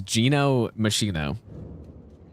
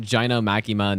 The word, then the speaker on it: Gino Machino: you say SLE bet how do I pronounce my Channel's name it's Gino machino is is how it is a thanks for the 100 bits again dude yeah not gin maima not whatever else it could be we do this uh